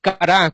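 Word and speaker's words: כרת: Esta palabra es Kará, con acento en la A, en el Strong 3772, y su etimología es pacto, y también como morir.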